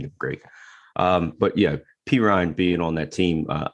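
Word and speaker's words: Perine: pick up uh perrine how do you say right p ryan p ryan almost sounds like i'm saying it wrong by saying it right just like a chubba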